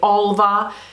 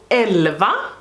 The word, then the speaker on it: Älva: elva 2 eyeshadow palette i know that all of you americans say alva it's because this is not an a this is an er so it's called eleva just you're aware so this is the